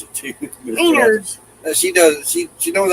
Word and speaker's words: Menards: Menards.